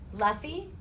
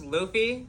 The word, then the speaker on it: Luffy: Naruto here Goku here Luffy um actually it's pronounced Luffy